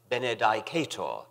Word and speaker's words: benedicat: and after benedicto benedicat I was one of the majority who pronounced this last word benedicat some of the older classically trained fellows pronounced it bened which fascinated me although